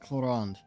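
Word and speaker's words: Clorinde: I can understand her name being pronounced Chlorand, or Chlorend. But it's spelled Chlorind. They keep saying Chlorand. And the way Navia just pronounced it was so far off that, like, Chloriand.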